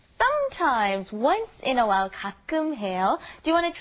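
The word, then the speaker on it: 가끔: once in a while kakum ha do you want to try that pronunciation be careful the kakum okay kakum good kakum ha and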